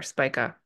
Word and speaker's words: Spica: Here is Venus, like precisely on the star Spica. So Spica or Spica, depending on how you pronounce it, is this a star, a really key star in the constellation of Virgo.